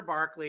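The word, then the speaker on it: Berkeley: without land so Governor Barkley as I said that's how they pronounce it would not retaliate against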